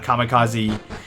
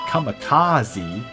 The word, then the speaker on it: kamikaze: how you pronounce it Kamikaze it should be kamikaze Kamikaze but it's like nobody pronounced it correctly well that's not true